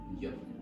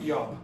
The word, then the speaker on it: job: Job. Job, Yeah. job. Job. Yes, job. Like I Job. No, not yob, okay?